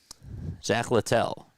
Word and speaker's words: Zack Littell: Zack Littell, really. That's how you pronounce it.